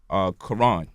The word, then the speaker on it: Quran: Or you look at the word Quran. In English, we just pronounce the K and the Q the same exact way. But the Q is supposed to be pronounced like from the back of the throat, like when we making